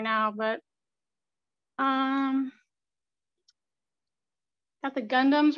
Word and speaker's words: Gundam: It's just out in the open right now, but got the Gundams right here.